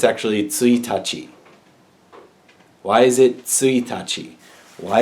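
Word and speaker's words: 一日: It's actually tsuitachi.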